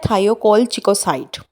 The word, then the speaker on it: thiocolchicoside: या फार्मूला है वो क्या है वो है थायो कोल चिको साइट थायो कोल चिको साइड इस तरह से आपने इसको प्रोनाउंस करना है ठीक है और मस्कल इसका